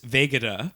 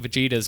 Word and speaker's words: Vegeta: goodness two episodes ago I referred to the great principal Vegeta as Vega de and believe you me